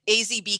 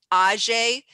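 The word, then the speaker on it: AŽ: sells these um asia azb keeping so when you hear somebody say ajay that's how they say it in slovenia so we just start saying aj instead of a z or slovenian so it's all the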